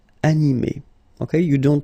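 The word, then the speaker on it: animée: So phonetically, you will get exactly the same form. So masculine form, animé, and then the feminine form, animé.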